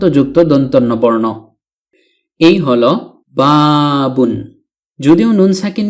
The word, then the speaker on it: بَابٌ: অর্থ দাঁড়ায় একটি দরজা অনেক সময় আমরা বাব বলে থেমে যাই শুধু বাব উচ্চারণ করে মুখস্ত করে থাকি অর্থাৎ ওয়াকফ করে ফেলি মানে শেষের তানভীনুনটি উচ্চারণ করি না কিন্তু তো আশা করি এখন থেকে আমরা এর পরিপূর্ণ উচ্চারণ করার প্রয়োজনীয়তা খুব ভালোভাবে অনুভব